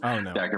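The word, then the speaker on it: Dacre: I'm not sure how to pronounce his name like Derer. I was just wondering if you know Derer Montgomery.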